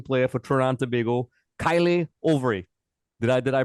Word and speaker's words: Kaïlé Auvray: The very, very surprising and exciting new attacking player for Trinidad and Tobago, Kaïlé Auvray. Did I pronounce that correctly?